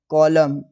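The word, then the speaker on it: column: तो एन जो है ना जब किसी वर्ड के लास्ट में एम एन आता है तो एन साइलेंट होता है। जैसे autumn कॉलम डैम सोलम हिम अ मुझे लगता है कि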